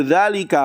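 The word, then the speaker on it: ذلك: Dalika kursihu dalika mubtada. Antum pahamlah ya itu dibacanya dalika bukan dzaka ya tapi dalalika.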